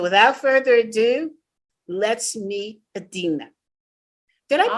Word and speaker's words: Edina: you today so without further Ado let's meet Adina did I pronounce your name right yes that's perfect Edina okay great you would think after we were